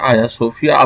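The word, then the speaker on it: Hagia Sophia: गया था या सोफिया यह थोड़ा सा जी साइलेंट है आया सूफिया मस्जिद एक चीज का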